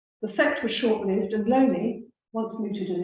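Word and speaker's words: Looney: lonely questions unfortunately spelled Mooney but his it's pronounced lonely and um his inquiries appear to be strongly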